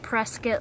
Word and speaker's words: Prescott: aren't rescued Prescott yes spelt like Prescott but it's pronounced press kit like biscuit yeah we were told